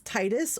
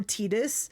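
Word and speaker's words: Tidus: So, you don't know if it's Titus or Tetus because I have heard both pronunciations from different places.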